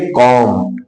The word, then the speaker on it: comb: तो जब बी के पहले एम आ जाता है तो हमारे बी का उच्चारण नहीं होता है, तो इसको हम पढ़ेंगे कॉम। क्या पढ़ेंगे?